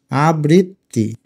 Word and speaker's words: আবৃত্তি: একটা ত দিলাম কারণ উচ্চারণটা আমরা কিন্তু বলি আবৃত, তারপরে আবার তি বলি, আবৃত্তি। উচ্চারণ করে দেখো তোমরা, এভাবে উচ্চারণ করো আবৃত্তি। এখন হসন্তটা দিব, তয় নিচে হসন্ত না দিলে উচ্চারণ হবে আবৃততি, এখন উচ্চারণ হলো আবৃত্তি।